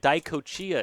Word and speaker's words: DiCochea: And I'm being told DiCochea is the correct pronunciation. Having real difficulty with that one. Next pitch to DiCochea is a strike.